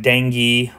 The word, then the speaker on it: dengue: talk about dang first so dang fever is some people call it Dengue Fever um I like to pronounce it the French way uh this is a